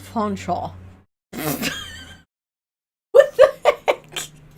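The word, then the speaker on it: Featherstonehaugh: Are feather stone hawk being pronounced fonchaw?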